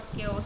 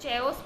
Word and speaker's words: chaos: अब केओस को अगर आपने प्रोनाउंस करने नहीं बताया कि CHAOS को केओस कहते हैं, तो वो अपने जनरल नॉलेज से कि CH से च होता है, AOS, उसको चेओस पढ़ेगा और चेओस ही पढ़ता जाएगा जब तक उसको कोई टोके ना।